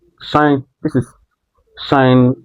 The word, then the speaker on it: sinh: sinh. This is sinh X. This is a hyperbolic hyperbolic function. So, for hyperbolic function, this is pronounced as sinh.